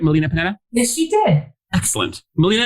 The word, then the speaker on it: Melina Panetta: Did I pronounce that right? Melina Panetta?